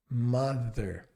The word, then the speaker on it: mother: Quando você faz o th, é o mesmo movimento, porém ao invés do lábio inferior encostar no dente, é a língua. Mother.